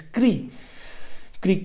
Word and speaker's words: Krikri: But when you're reading in Sanskrit, or very similar to German, you pronounce each syllables and it becomes Kri. Kri Kri.